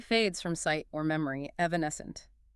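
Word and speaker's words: evanescent: Evancent. E V A N E S C E N T. Evones hunt.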